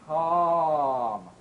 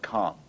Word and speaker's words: calm: opening is too small we need to pronounce our number five vowels with much larger openings for a big round ah sound father calm car or